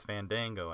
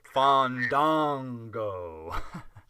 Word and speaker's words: Fandango: him serious because he's Fandango out there dancing and stuff he said it wrong oh fond Dongo sorry oh my gosh